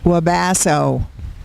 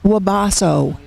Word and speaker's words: Wabasso: Wabasso. It's not Wabasso. It is Wabasso.